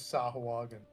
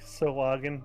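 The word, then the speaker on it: Sahuagin: Well, also for us, we have Corus Island that says Sahuagen. That's very true in like the narrator. Apparently, it is meant to be pronounced like a soft G, like the person who wants us to pronounce GIF, like GIF.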